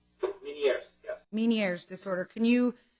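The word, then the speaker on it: Ménière's: So Meniere disorder, did I pronounce that correctly? Meniere's, yes.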